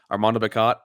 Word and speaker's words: Armando Bacot: whole entire lesson how to pronounce his name, Armando Bacot.